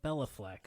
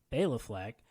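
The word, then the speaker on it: Béla: i actually see and i've always been pronouncing his name wrong because i was pronouncing it bella fleck so that tells you how much i know but bailey fleck uh the way that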